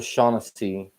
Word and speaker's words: Shaughnessy: This is a Shaughnessy or Shaughnessy. There's a couple different ways to pronounce it.